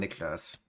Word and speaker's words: Niklas: The actual correct pronunciation is the German way, Niklas.